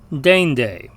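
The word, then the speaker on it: deinde: Now, the Latin diphthong EI sounds like the same vowel combination in the English word reign. And in fact, we see the same pronunciation in the English word reign, R-E-I-G-N, as in a king's reign. The Latin word that means next is pronounced dende.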